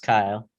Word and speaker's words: Keil: Yes, it's pronounced Kyle. Kyle, I'm sorry.